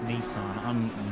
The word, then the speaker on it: Nissan: Oh, now I'm being told in my DMs that it's Nissan. No. Ah, look at that. I'm right. Huh. It's almost like proper pronunciation.